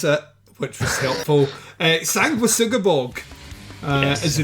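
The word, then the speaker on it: Sanguisugabogg: the t-shirt, and Dave taught us how to pronounce it, which was helpful. Sanguisugabog is the name of the band.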